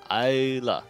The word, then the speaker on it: Ayla: and comes into the Alia. How do you say it? Alia? Ala. Ala? I mean, there's not the L-I-A, right? Or L-E-A. It's Ayla.